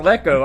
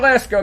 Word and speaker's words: Lesko: I called her Lecco. I don't know what in the world I'm thinking. I mean, you would have thought I would have got it corrected after last night's fiasco. Of course, we recorded McJustice before Pirate Radio, but it's Barbara Lesko.